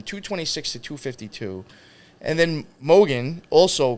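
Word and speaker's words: Mogen: with her last name but Mogan yeah I believe that's pronounced correctly Mogan so yeah they were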